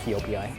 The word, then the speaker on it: Joepii: It's spelled Joepii, Joepii, but I'm pretty sure it's Yoepii.